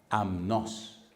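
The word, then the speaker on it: ἀμνός: Primera palabra, amnos.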